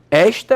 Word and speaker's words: esta: Esta é uma coisa, está é outra. Não precisa diferença. Ó, quando você fala esta, qual é a sílaba batônica? É.